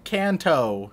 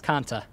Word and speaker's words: Kanta: in the neighborhood can canto the kanto region uh close you're one letter off it's kanta kanto ah so close